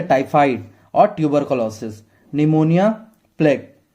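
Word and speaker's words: pneumonia: डी for diphtheria और dysentery, T से typhoid और tuberculosis, निमोनिया, plague, P silent है निमोनिया का, और प्लेग, कॉलेरा, लेप्रोसी,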